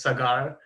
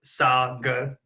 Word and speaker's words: Sagar: is Sagar sng are a lot of people pronounce my name is cigar or say God is Sagar like saw and girl like sugarstar any see